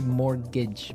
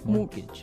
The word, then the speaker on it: mortgage: It has a t in it, but you don't pronounce it. You say mortgage. Mortgage.